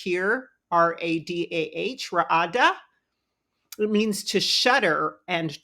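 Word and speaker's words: radah: Ra'ada, we can see it's pronounced here, R-A-D-A-H, Ra'ada.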